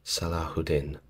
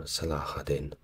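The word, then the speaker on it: Salah ad-Din: best from memory and say that is pronounced salahudin or salahadin correct me in the comments if you will now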